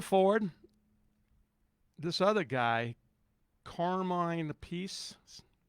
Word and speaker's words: Appice: Can't pronounce that last name like that. Appice? A piece of cake? Piece of pizza? That's why I don't like pronouncing it like that. It sounds like a piece of pizza because we're Italian.